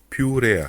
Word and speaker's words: purea: Katletti, et ça c'est de la purée de pommes de terre. Purea, ça se dit purea, purée, purea.